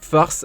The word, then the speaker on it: Faes: respecté son nom car face se prononce farce en flamand nous explique le journal